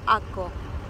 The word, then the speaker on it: Akko: la ciudad antigua de aco aquí lo conoce como ake acke bueno cada uno lo pronuncia a su manera pero en hebreo y acá en Israel se lo conoce como aco bueno van a poder